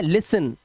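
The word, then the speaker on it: listen: इसी तरह से यहां पर इसे पढ़ते हैं लिसन क्योंकि यहां पर टी साइलेंट होता है।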